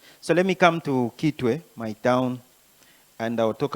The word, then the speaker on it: Kitwe: For those who don't know, who are watching, it's just Chitway. It's C H I Chu. But because the Europeans and the Americans didn't know how to pronounce Chitway, so they decided to say Gitway. So Gway is an English version of Chitway.